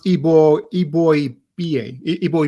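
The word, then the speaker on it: Eboigbe: this one I'm going to have trouble with ebo JB actually pronounced ebo EB boy ba EB boy B oh okay so the G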